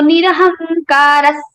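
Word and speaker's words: निरहङ्कारः: Nirmamo nirahankaras. Nirahankara Visarga is followed by sa. So we are changing the sound of Visarga into sa. Nirahankaras.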